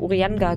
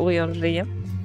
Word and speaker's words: Urianger: Er wird übrigens wirklich so ausgesprochen, es hat Ewigkeiten gebraucht, bis ich mir den Namen gemerkt habe. Ich habe immer Urianga gesagt. Er ist aber Urianger.